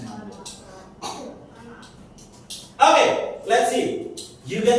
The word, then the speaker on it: manga: Ternyata that we call manga is actually manga. It should be pronounced manga.